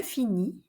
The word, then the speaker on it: finis: Je finis, we don't pronounce the S.